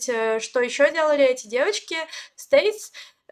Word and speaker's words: STAYC: Стейси, правильно говорить.